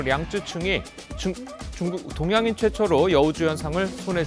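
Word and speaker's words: 楊紫瓊: 제95회 아카데미 시상식에서 홍콩 배우 양자경, 중국어 발음으로 량쯔충이 중국 동양인 최초로 여우주연상을 손에 쥐었습니다.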